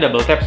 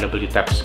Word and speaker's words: WTAPS: Jadi dibacanya Double Taps ya. Jadi si Tetsu ini membaca brand itu adalah Double Taps, bukan W Taps gitu.